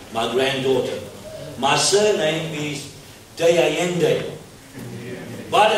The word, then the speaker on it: D'Allende: I can't speak Spanish, so I pronounce it a simple way. De Allende.